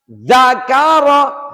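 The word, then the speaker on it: ذَكَرَ: Ja'ala Ja'ala Dzakaro, hati-hati diingatkan kembali, dza ini tidak boleh diucapkan dengan lemas, dza tidak tapi ditekan.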